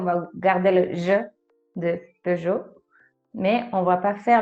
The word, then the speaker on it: Peugeot: pour ça qu'on va garder le jeu de peugeot mais on va pas faire le e parce